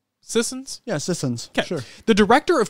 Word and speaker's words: Sissons: Is that how you pronounce Dana's last name? Sissons? Yeah, Sissons.